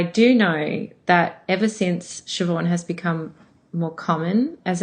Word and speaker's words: Shevaun: means but I do know that ever since shoban has become more common as a name in